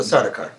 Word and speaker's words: Sardaukar: As he is speaking to the Sardaukar, pronounce it? The Sardaukar.